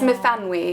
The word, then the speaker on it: Myfanwy: And it is Myfanwy is the correct pronunciation.